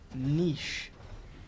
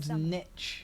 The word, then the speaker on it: niche: of those niches is pronouncing niche properly i have heard nitch i think i was watching a youtube video last night and it said mitch and i was like that i believe niche actually has an accent 500